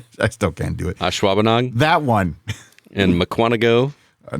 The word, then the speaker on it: Ashwaubenon: years to have sir Troy get me to pronounce ashwauben I still can't do it Ashwaubenon that one in Mukwonago I've never heard of